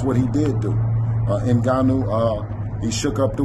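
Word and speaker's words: Ngannou: it I seen shout out to um let's pronounce his name right inuu he deserves that cuz he put on a hell of a performance SK that's what he did do uh in ganu uh he shook up the world he did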